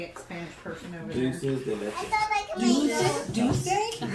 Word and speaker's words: dulce de leche: Dulce de leche.